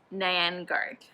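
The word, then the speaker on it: 年糕: Gao has the same pronunciation as the word high, and Nian means year,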